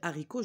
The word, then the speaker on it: haricots: j'ai fait la liaison mais pour les haricots j'ai pas dit les haricots donc quand est-ce qu'on